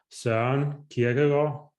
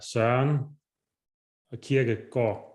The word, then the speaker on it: Søren Kierkegaard: So if anybody wondered how to pronounce his last name or pronounce his name, it's Søren Kierkegaard. You say it like that, Søren Kierkegaard.